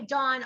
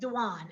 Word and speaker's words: Dwan: it's my life and people call me dawn all the time and i hate when people mispronounce my name it's like yeah it's dwan but dwan's super unusual